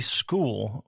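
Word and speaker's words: Skool: Later this year, we are going to be launching a free school which is spelled skol.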